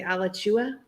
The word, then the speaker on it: Alachua: part of Florida like so it's Alachua County but they say Alachua it's like yeah and